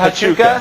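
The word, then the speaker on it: Huachuca: I have no idea how to pronounce it. Hachuka. Is it Hachuka?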